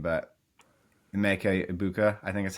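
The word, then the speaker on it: Emeka Egbuka: I always butcher his name, but Emeka Ibuka, I think that's how you say it.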